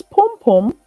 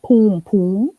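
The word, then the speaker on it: pum-pum: as punani so it's pom-pom pom-pom it's like p-u-m-p-u-m pronounced that way pom-pom not poom poom like i hear some people say it um so it's pom-pom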